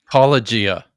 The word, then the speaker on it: apologia: Is it apologia or apologia? It's apologia. Apologia.